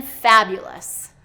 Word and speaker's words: fabulous: third syllable and then fabulous okay fabulous fabulous is second syllable stress but the correct way is fabulous he was looking fabulous